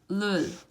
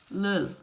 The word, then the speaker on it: 를: pronounce it like this, leul, leul. So all you do is touch up, leul, leul, leul. So you touch and then go back, leul, okay, leul.